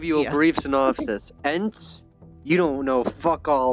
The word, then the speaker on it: Ent: Ents, you don't know fuck all about Ents.